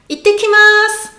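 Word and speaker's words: 行ってきます: Ittekimasu, ittekimasu. Ittekimasu. Itte, on retient. Ittekimasu, 3 syllabes.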